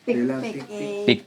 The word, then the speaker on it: pikpik: Pik-pik. Pick.